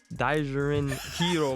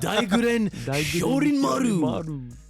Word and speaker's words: Daiguren Hyorinmaru: But don't be asleep on Hitsugaya's Daijurin Hero. I can't say that shit. I fucking knew you wasn't gonna be able to pronounce that shit. It's the Daiguren Hyorinmaru.